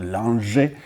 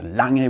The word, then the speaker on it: Lange: So I know many people only say Lange, and it's not Lange, it's Lange with a strong G, and I also do